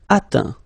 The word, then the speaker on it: atteint: Atteindre, atteint. Éteindre, éteint. Feindre, feint. Peindre, peint. Teindre, teint. Okay, as usual, final T not pronounced.